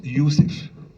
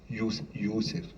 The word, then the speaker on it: Youssef: Joseph en en sémitique, il se prononce Youssef. Youssef.